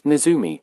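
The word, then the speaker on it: ねずみ: year of the mouse the Japanese word for mouse is nizumi and when pronounced in Japanese it kind of sounds like the Netherlands also mister Keo was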